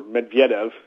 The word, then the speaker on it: Medvedev: um despite even what Alexander Medvedev um or Medvedev to Pro to properly pronounce it has said the president of the